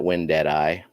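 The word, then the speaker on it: wendtii: crypt crypt win ti see people pronounce it when dead eye and that's how he spelled it but it's w-e-n-d-t-i-i right yeah bronze i got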